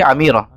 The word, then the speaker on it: Amirah: Qalyubi Amirah. Nah, lebih tepat disebut Amirah ya, kata Syekh Ahmad Ma'bid hafizahullah dan kata Syekh Muhammad Salim Bahiri. Bukan Umairah, orang kadang-kadang bacanya Umairah, tapi yang lebih tepat Amirah.